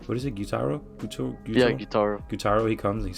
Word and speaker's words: Gyutaro: And that's when Gyutaro, I always say his name wrong. What is it, Gyutaro? Yeah, Gyutaro.